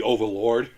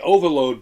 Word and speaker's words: Overload: I call it the Overlord because I kept mispronouncing that. But it's the Overload by First Act, and it's